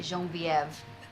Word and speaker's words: Genevieve: Genevieve. What a pretty name. Thank you. I actually pronounce it Genevieve. Sounds fancier.